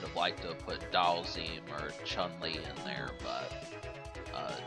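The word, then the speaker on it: Dhalsim: Fighter fan to nag me about pronouncing his name wrong, so... Like, I didn't know that Dalzim's name was Dalzim, but that's actually how you say it.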